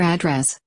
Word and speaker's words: address: Some nouns are spelled the same as their verbs. Look at the following examples. Nevertheless, we put the stress on the words differently. The first syllable on nouns, and the second syllable on verbs.